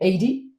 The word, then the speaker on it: Adey: Yeah, and pronounce the name Adey.